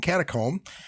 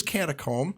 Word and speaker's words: catacomb: pronunciations of zeitgeist and catacomb. Dan, you want to pull that up for us? Okay, so here's catacomb. Start in American English. Catacomb. Catacomb. Catacomb. Okay. Like a cat and then a comb.